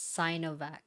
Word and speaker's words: Sinovac: out okay okay britney the sea in sinovac is pronounced as cyanovac oh my bad i